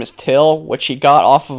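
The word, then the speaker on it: Thgil: them his name is till which he got off of a Light and Fit Yogurt carton my name is till it's spelled t h g i l but it's pronounced till so Neil goes back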